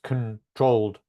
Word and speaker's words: controlled: Because it's like a consonant cluster at the end. So it's controlled. Yeah. So where's the main syllable? The main stressed syllable? Was it the first syllable or the second syllable? The first one? It's the second. Controlled. It's like a controlled.